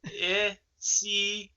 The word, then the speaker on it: Penisini: It is Pen Penisini. Okay.